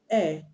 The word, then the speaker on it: heir: For example, the word air, HEIR, the H is silent, but the word hair, HAIR, the H is not silent.